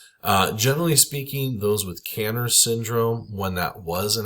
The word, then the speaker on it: Kanner's syndrome: Um Kanner's or Kanners syndrome, depending on who you talk to. I've heard it pronounced different ways.